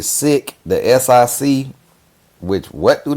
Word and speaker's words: sic: Pronounced sick is a Latin term meaning thus or so.